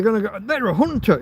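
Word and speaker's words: junta: The Hunter part is uh together.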